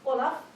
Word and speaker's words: Wolof: So the word is W-O-L-O-F, Wolof, but they don't quite pronounce it like that. To me, it sounds like a fun snowman that we've all heard about. And so when they say it, it sounds like this, Olaf.